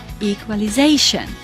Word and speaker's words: equalization: And the last one, equalization. Where was the stress? On A, equalization.